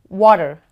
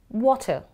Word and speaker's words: water: as the alphabet T Falls between two vowels the T becomes D so it becomes water versus water water water so you